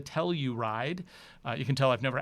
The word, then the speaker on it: Telluride: go ahead and or as many viewers told me Telluride I guess I kind of got a little sloppy with my pronunciation in this video quite a lot calling it the teller ride but it's the Telluride you can tell I've